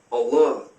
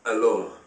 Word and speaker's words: Allah: The Aramaic is Allah, but without emphasizing the L. Hence this one L without a dot. Allah. It can also be pronounced Allah. The Arabic word is Allah. The difference is mainly the elongation of the L, Allah, as opposed to Allah.